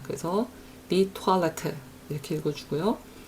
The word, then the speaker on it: Toilette: 요거는 이중모음에 들어가지 않고 외래어이기 때문에 그 외래어가 원래 가지고 있는 발음을 존중해서 읽어줍니다. 그래서 die Toilette 이렇게 읽어주고요.